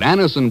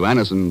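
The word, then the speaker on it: Anacin: what many thousands have known for years that Anison brings incredibly fast effective relief Anison is like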